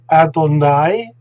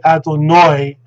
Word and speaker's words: Adonai: pronunciation for everything else whether they should say adonoi like the ashkenazim and not adonai like the safaridam i'm sure this uh